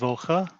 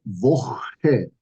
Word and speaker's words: Woche: Now, could you repeat the word Woche? Woche? Okay. The CH sound needs to be pronounced very, very specifically as your sound. Okay. And this is something you're gonna have to practice because we have this beautiful word called Nacht.